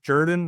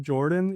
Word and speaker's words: Jordan: Yeah, so the owner and lead designer and CEO of the company, Bill Jordan, and it is pronounced Jordan, not Jordan, even though that's a uniquely Columbus, Georgia, Southern thing.